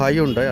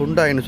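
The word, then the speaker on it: Hyundai: இதில் ஃபஸ்ட்டு நிற்கிறது பார்த்தீங்கன்னு சொன்னால் ஹையுண்டாய், அதாவது ஹுண்டாயின்னு சொல்லுவோம். ஸோ இதோட டீட்டெயிலையும் இதோட ப்ரைஸ் எல்லாம் பார்ப்போம். இது பார்த்திங்கன்னா ஹையுண்டாய், அதாவது இலங்கையில் வந்து ஹையுண்டாய்னு சொன்னான்னு தெரியும். ஆனால் வந்து இதோட உச்சரிப்பு வந்து ஹுண்டாய், அதாவது ஹொண்டா இல்லை ஹுண்டாய்.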